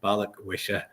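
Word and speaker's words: Balikwisha: If you just read it slowly. Balik wish I just can't believe how many times people get it wrong.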